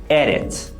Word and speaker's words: edit: third condition is that the stress Must Fall on the last syllable but in the word edit it falls on the first syllable edit edit so we can't and